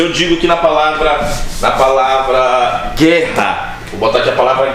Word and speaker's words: guerra: A gente tem que entender que na palavra guerra, o U não é pronunciado. E é por isso que é um dígrafo, e é por isso que só tem um fonema.